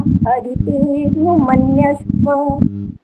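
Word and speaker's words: अदितेऽनुमन्यस्व: ओम अदिते नुमन्यस्व। बस ऐसे बोलना होता है। अ का उच्चारण बिल्कुल नहीं करना, यहाँ पर इकट्ठा बोलना होता है इसको।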